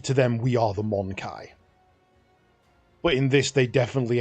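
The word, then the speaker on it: Mon-keigh: Um my understanding is that it's pronounced Monai. We we to them we are the Monkai, but in this they definitely emphasize the mon the monkey part.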